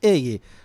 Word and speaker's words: Heguy: Cuál es a ver y la pronunciación correcta viene el origen Vasco francés claro es eje O sea que bueno